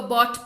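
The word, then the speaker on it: bought: बाई, बॉट, बॉट, buying, इसको बॉट पढ़ते हैं।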